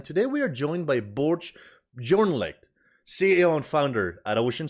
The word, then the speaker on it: Børge Bjørneklett: podcast series yes so my name is bur it's a yeah it's a tricky name to pronounce sorry with o with a slash across the Scandinavian letter so um yes I'm